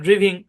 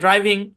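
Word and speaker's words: driving: আপনারা অনেকে উচ্চারণ করে ফেলতে পারেন। ড্রিভিং, রিডিং, মেকিং উচ্চারণ করতে পারেন। এগুলো প্রত্যেকটা কিন্তু ভুল উচ্চারণ। এগুলা কি? ভুল উচ্চারণ। তাহলে এগুলার সঠিক উচ্চারণ কি? এগুলো সঠিক উচ্চারণ হচ্ছে ড্রাইভিং, রাইডিং, মেকিং।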